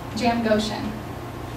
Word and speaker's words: Jamgochian: Jam Goshen is Armenian.